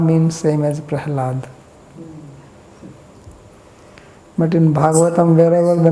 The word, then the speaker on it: Prahlad: The La is quite often pronounced as Ra.